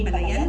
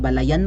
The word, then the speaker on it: Balayan: gobyerno nandun siya in Balayan Batangas Hindi yan Balayan diyan Berna Balayan hindi Balayan walang stress sa huling syllable Balayan ganun yon Anyway so much for